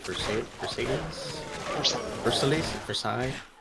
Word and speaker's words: Versailles: for satan's first elite versailles yeah it's french there's a lot of silent letters yeah it's just for